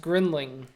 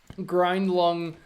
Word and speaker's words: Griendling: last name is pronounced grinling like um like friend Ling like friend with a G and a ling no grind lung is like my shitty